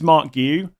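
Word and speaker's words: Marc Guiu: I think it's Mark Guiu, something roughly like that, from Chelsea.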